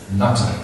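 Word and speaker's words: Jnata: J-N-A-T-A. Like Jnanata. Like Nata it's pronounced.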